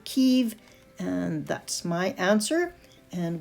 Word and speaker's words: Kyiv: Before I would have said Kiev, but I think that the pronunciation is actually Kyiv, and that's my answer, and we'll see if I'm correct.